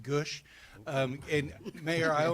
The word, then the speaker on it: Gwodz: I have. Good evening. Thank you, mayor. That was a nice try. My last name is pronounced Gush.